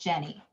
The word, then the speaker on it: Jany: Jenny, it's actually spelled Jany, but it's pronounced Jenny, apparently.